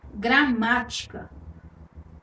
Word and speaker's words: gramática: Gramática. Perceba que a sílaba tônica está aí na antepenúltima posição, na sílaba má.